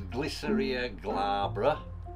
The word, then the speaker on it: Glycyrrhiza glabra: And the licorice root is grown as a shrub, and it's pronounce it in Italian as Glycyrrhiza glabra. Similar to that anyway, it might not be quite the correct pronunciation.